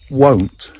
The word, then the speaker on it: won't: I won't tell anybody. Now be careful with your pronunciation of won't. We have to use the O sound. If you don't make the nice O sound, O is a good way to practice in the car.